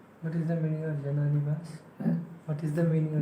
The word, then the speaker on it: Jananivasa: Jana Nivash. We always pronounce it Jananivas. But there's a hyphen in between the Jana and the Nivash.